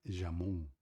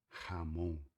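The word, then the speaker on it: Ramón: Aqui no Brasil você falaria jamon, mas em espanhol a gente fala Ramon, tá beleza?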